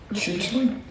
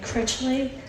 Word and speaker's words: Critchley: Next speaker is Chichley. Sorry if I mispronounced that. Yes, you did. Hi, Critchley, Critchley.